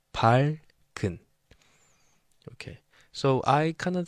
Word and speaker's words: 밝은: So it's written like this, 리을 and 기역 together as a final double complex consonant. But when it's pronounced, this 기역 is placed here, even though it is written like this, 밝은. So it's pronounced as 밝은.